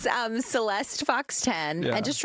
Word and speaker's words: Syleste: Stick with Celeste.